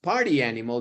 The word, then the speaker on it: party animal: party animal is pronounced party animal because it's a cliche the intonation shifted to emphasizing party over animal because everybody understands now